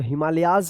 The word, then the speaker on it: Himalayas: यहां पे हिमालय में एस लग गया तो हिमालयाज पढ़ेंगे इसको.